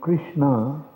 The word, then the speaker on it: Krishna: To think that it is something of this world, like Krishna, the name Krishna is a combination of 4 syllables. Ka, Ri, Sha, Na. So Krishna.